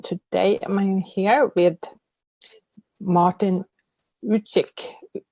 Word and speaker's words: Ülic: I'm here with Martin Richie did i pronounce it perfectly well thank you yeah like in chicken oh and we're actually